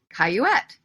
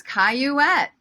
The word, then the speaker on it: Cayouette: in the audience knew my name how to pronounce it and my manager yelled from her seat somewhere in the middle caillouette and the comics that I I excuse me I can't hear you and she says caillouette and he says I can't hear you and